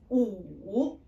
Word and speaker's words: 五: 五, 五. W is silent, and then this one is like in English blue.